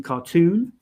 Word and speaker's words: cartoon: I don't think, but just the OO can sometimes be pronounced oo, as in cartoon, and sometimes pronounced or,